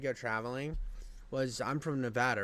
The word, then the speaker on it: Nevada: of the country pronounces it wrong it's they pronounce it NADA so it's Nevada it's Nevada it's Nevada and it's always been